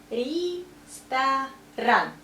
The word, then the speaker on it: ресторан: But, for example, this word, ресторан, that's restaurant, but we say ресторан. Stress is here, so ye we pronounce like I, and O goes A.